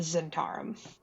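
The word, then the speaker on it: Zhentarim: of them being um the zentar Z can you spell that yes can you sell it in the side chat for us please yeah that like z n t a r u m I think that's how that's spelled I'll have to double check silent h silent h yeah a lot of extra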